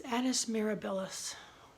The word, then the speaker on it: Annus Mirabilis: I always say it wrong. It's Annus Mirabilis.